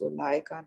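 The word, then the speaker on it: أولئك: اور یہاں انہوں نے بتایا کہ اولئکہ میں ہم واو نہیں پڑھتے ہیں، اگر آپ پڑھیں بھی تو اولئکہ پڑھتے ہیں. انہوں نے بتایا اس طرح سے کہ the word is pronounced اولئکہ not اولئکہ.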